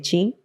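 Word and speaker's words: qi: El chi, que en realidad se escribe la letra Q i, se lee chi, es la energía, la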